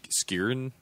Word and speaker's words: Skrein: Skrein, I think is the pronunciation.